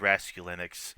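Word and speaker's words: Raskulinecz: producer Nick Rascalini, uh, which I hope I'm pronouncing correctly. I ap I've heard it mispronounced here and there. I guess it's Rascal Linux. the guy who produced Diamond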